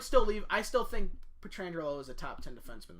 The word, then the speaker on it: Pietrangelo: So, Alex Pietrangelo, I totally just butchered his name. You said it completely right. I did. Pietrangelo.